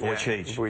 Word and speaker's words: Vujicic: you so much for coming in am I'm pronouncing it right voy voy you got it perfect vo voy is good well done uh to me uh